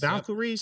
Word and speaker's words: Valkyries: And tonight we have the New York Liberty that is playing against the Golden State Valkyries. Is that how you pronounce it? Valkyries. Valkyries.